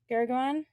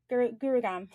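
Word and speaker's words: Gurugram: in um i'm going to say it wrong gurgaon gurugam so they're going to be hosting an awesome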